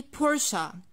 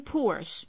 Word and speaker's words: Porsche: how about this one i say porsche porsche i'm not saying porsche all right so i have to keep the schwa sound at the end of the core brand a porsche is an